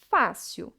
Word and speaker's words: fácil: É o caso da palavra fácil. A sílaba tônica é a penúltima sílaba. A última seria sil, a penúltima fá.